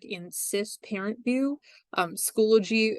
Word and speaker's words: Schoology: the beginning all right so schoology is pronounced schoology it's not schoolology so say it to yourself when you're sitting at home or right here at your desk it is Schoology um and it makes